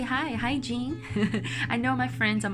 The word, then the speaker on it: Jing: In Chinese, you pronounce Jing. So so you don't have that J sound. It's kind of like a combination of J and Z, right? So it's pronounced Jing in Chinese.